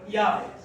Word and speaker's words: Yahweh: Pronuncia-se Yahweh, ou Yahweh, como quiser.